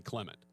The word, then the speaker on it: Clement: let me double check we're calling you Claymont is that how your name's pronounced and he said you just called me whatever you want I go that's not how this works in broadcasting you tell me how to pronounce your name and we pronounce it that way and he said well my mom would probably appreciate if you called me Clement and I'm like well